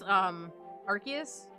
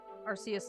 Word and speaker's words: Arceus: Arceus is a soft C, if I remember the movie correctly.